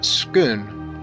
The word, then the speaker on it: Scone: though if I understand correctly s-c-o-n-e is pronounced more along the lines of schoon by locals all the kings of